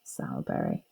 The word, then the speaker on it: Sowerberry: be s aur but it would be pronounced sour berry so what connotations might